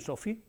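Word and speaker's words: SO/PHI: vamos a centrar en Sofi Nosotros le le colocamos el so fi para que se pronuncie Sofi so de solar orbiter de acuerdo y como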